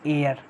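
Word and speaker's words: heir: ये दोस्तों है एयर, इसको हम प्रोनाउंस करते हैं एयर।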